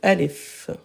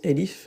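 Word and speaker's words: ألف: Alif, alif. Alif, après ça dépend des... Dans certains pays, ils le prononcent elif, mais en arabe, alif.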